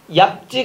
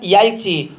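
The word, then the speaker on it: 얇지: 자, 27번 표준 발음을 올바르게 표기한 것은 널죽하다가 아니라 넙죽하다, 얍지가 아니라 얄지, 훗지가 아니라 훌지, 맑고 맞고요.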